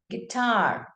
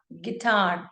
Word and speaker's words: guitar: So U goes silent. So it's read as guitar, guitar, the instrument that you actually play. It's called the guitar and not guitar.